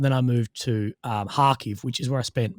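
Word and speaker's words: Kharkiv: i moved to um hakeev which is where i spent most of my time you'll hear people pronounce it karkov or whatever but harkev which is about 20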